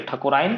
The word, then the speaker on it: ठकुराइन: नहीं होइ छै क्योंकि ठकुराइन के जे उच्चारण छै ठकुराइन, मतलब ई के मात्रा में जे छै से बहुत ज्यादा जोड़ नहीं पड़ै छै, ताहि दुआरे दीर्घी नहीं हेतै हर्षी हेतै, ठकुराइन हम सब कहै छी।